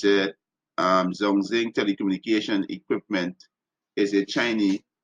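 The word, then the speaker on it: 中兴: It says Zong, pronounce this word, right? Let's see, right? Zhongxing. Oh, Zhongxing, right?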